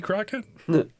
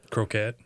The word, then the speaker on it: croquette: Is that how you say it? Crockett? Mm-hmm. Croquette. Croquette.